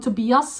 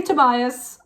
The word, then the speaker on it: Tobias: always almost call them to be us because that's the correct pronunciation when you're from Scandinavia but I'm gonna say Tobias just sometimes I really